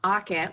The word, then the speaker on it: Auket: So it's Auket, like pocket.